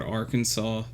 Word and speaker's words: Arkansas: Arkansas is just the word Arkansas. Like the rule of thumb that I would go by It's is pronounced Arkansas, you idiot.